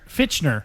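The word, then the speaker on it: Fichtner: Is it Fitcher or Fickner or Fitchner. Fitchner.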